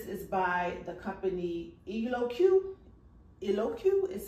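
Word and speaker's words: Eloquii: well and this is by the company eloku eloku is spelled e-l-o-q-u-i-i eloku elements and I got this in a size 16.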